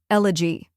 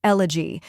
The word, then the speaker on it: elegy: elevator next is a a quick unstressed vowel sound like the a in sofa finally G which rhymes with b and C now let's put it all together elegy try repeating after me elegy now a little faster